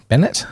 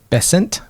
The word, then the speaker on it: Bessent: the Treasury treasur secretary uh Mr Bennett here Bennett is that how you pronounce it bessent bessent he is pushing hard for the global